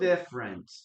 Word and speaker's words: different: Guys, remember that different has only two syllables.